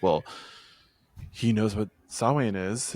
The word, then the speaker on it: Samhain: they do, and then Sam Hain is written in blood, although I guess it's pronounced Samhain.